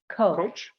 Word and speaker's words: Koch: Coach.